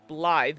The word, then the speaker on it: Blythe: It's like, yeah, because I know the name Blythe, B-L-Y-T-H-E, is pronounced like that as well.